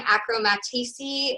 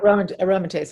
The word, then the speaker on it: aromatase: on seven years of i'm going to say this wrong acromatici inhibitors i'm pronouncing it aromatase inhibitors thank you sorry anything